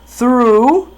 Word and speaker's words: through: I always follow through my promises. Gente, esse through aqui, ele vai ser pronunciado com som do TH e rule.